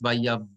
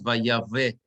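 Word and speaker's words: ויבדל: Vayavdel. Everybody understand why it's vayav, not vayave, but vayav, two little dots, right? Vayavdel, and the accent is on the dalet.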